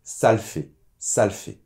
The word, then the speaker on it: ça le fait: Alors, là aussi au niveau de la prononciation, attention parce qu’on ne prononce pas totalement le « le ». On va dire plutôt : « Ça l’fait », le « -e » tombe.